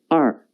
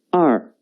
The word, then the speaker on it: 二: The pronunciation is 二. 跟我读. 二. 二.